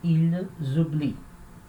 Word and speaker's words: oublient: Terceira pessoa, a gente já sabe que a última sílaba é fraca, então a gente fala ils oublient. Oublie. Tá? Só prestar atenção de não falar esse oublie e colocar o som de E, né? Oublier, não. Oublie, j'oublie, tu oublies, il oublie,